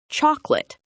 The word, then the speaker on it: chocolate: A perfect example is the word chocolate. It looks like it has 3 parts: chalk, o, late. But most English speakers only say 2 parts. We say chocolate. We completely drop the middle sound.